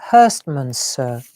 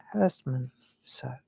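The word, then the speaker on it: Herstmonceux: And it's called Hurstmansur. Let me write it for you so you know where to, because it's not as you would think it.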